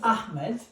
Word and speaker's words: Ahmed: But in Arabic we say ha. It's like my name. My name is Ahmed. In English we say Ahmed, right?